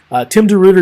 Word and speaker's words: DeRuyter: I know it doesn't sound like it doesn't spell kind of funny, but that's how you pronounce his name. Tim DeRuyter, as you see over